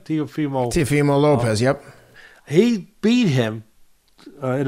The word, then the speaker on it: Teofimo Lopez: He beat Teofimo Lopez. Am I saying it right? Teofimo Lopez, yep.